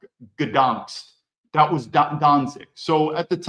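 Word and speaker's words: Gdańsk: I think it's in Polish, it's pronounced Gdansk.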